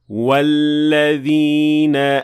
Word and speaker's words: وَالَّذِينَ: Like when we say وَالَّذِينَ آمَنُوا. Here, hamzat al-wasl is dropped because I pronounced the waw before linking it directly to the following word.